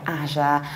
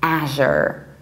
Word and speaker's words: Azure: British accent we also go to something like Asia more than as you are or as you ER so the British accent we say Asia and in the American I would say Asher Asher so Asher is with a very broad